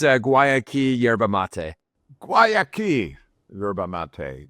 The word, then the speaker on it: Guayaki: here well let's begin with first of all pronouncing the name properly then can you do that for us yes it's it's a guayaki yerba mate guayaki ybba mate now I I